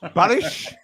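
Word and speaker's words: Barış: Boris and Barry are very very similar, aren't they? Let's be honest. Barish.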